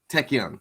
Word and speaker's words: Taekwondo: Like, we got to see her fighting style, which the pronunciation, is it Tekken? Tekken.